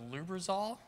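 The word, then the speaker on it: Lubrizol: executive vice president he was also been with loob resolve pronounced that right lubbers all corporation yep where is where he was active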